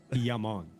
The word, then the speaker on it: Jammin: Starve Boys hopes we meet Amin's brother Jammin today. Amin's Only Jammin. after you roll the dice, though. That's pronounced Yaman.